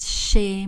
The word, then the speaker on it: chez: Je reste chez moi. Je reste chez moi. On ne prononce pas le Z, mais attention le son E.